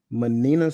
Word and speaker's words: Manina: this is, and I'm sorry, Manina. I hope I pronounced her name right. Yes, that's how you say it.